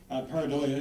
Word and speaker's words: pareidolia: As I mentioned earlier, patternicity or pareidolia, is that how you pronounce it? Okay, thank you. A new term. Pareidolia is a misperception where one sees something as clear and distinct when actually it's really vague and obscure.